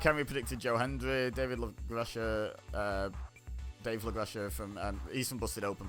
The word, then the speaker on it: LaGreca: the interviewer, Mark Henry, David LaGrecia, I think is how you actually pronounce his name. I think Santino pronounced it LaGreca.